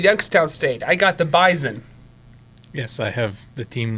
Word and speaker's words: Bison: they'll call him the Bison they call him the Bison it's spelled with an S but it's pronounced like a Z okay like how Toronto